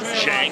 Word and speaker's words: Zhang: He'll poke his head and body name Shang. It's spelled Shang. It rhymes with Big Bang.